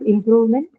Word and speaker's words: improvement: Hence, improvement retains its original stress, which is on the second syllable from the word improve.